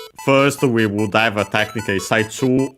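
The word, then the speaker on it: 最中: First, we would have technically Saichu on its own. Chinese compound accent on the first mora, one of those.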